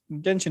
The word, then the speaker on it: Genshin: The nominations are Apex Legends, Final Fantasy XIV Online, Fortnite, Genshin Impact, or Jensen Impact, depending on your pronunciation, and Call of Duty Warzone.